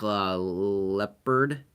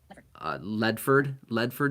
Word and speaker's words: Ledford: Mark Leopard. Oh, Ledford maybe. Yeah, sorry, I said leopard, leopard like those spotted cat things. No, Mark Ledford, I think is how it's pronounced.